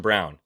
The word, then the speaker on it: Braun: man yeah it is it's Christian Brown I know it's spelled Braun uh the Brown Brothers but either way uh you can pronounce however you want I really don't care